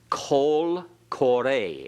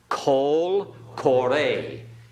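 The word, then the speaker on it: קוֹל קוֹרֵא: Kol kore. Everyone, let's pronounce this together. Kol kore.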